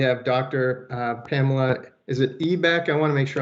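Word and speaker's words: Eibeck: Pamela, is it Ebeck? I want to make sure I'm not mispronouncing. Ibeck, the E is silent.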